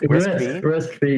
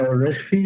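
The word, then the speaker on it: RISC-V: Well risk yeah risk risk fee. Yeah, that's it. That's it. So risk fee is something that maybe is going to be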